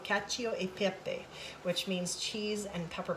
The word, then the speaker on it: cacio e pepe: who are watching this will cringe when i pronounce this but um i believe it's called cachio e pepe which means cheese and pepper pasta so what